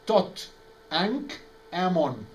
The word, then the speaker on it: Tutankhamun: Tutankhamun, you know what is the original name of Tutankhamun? Tot, the ibis-headed god. Ankh, the key of life. Ammon. So Tot, Ankh, Ammon.